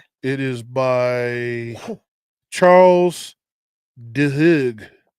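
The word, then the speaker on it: Duhigg: It is by Charles Dehig.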